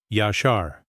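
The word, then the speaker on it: ישר: Pronounce it with me in a low voice. Yashar.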